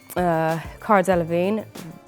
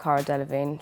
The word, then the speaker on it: Cara Delevingne: It was about public perception of this one person and aspiration, and so yeah, it's not really about Cara Delevingne. She just happens to rhyme with magazine.